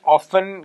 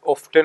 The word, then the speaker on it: often: Actually, this word, students, often can be pronounced as often or often. It's both. It's correct.